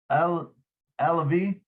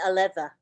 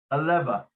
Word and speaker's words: Aleva: Jeannie Alavi? No. How do you say that, Lynn? Jean Aleva. Aleva.